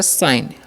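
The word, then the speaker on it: sign: और इसे पढ़ेंगे हम लोग ऐसे तलावेसा, आई का उच्चारण आई तो साई, और एन से न तो हो गया साइन। लास्ट वाला ये का उच्चारण नहीं करना है, ठीक है।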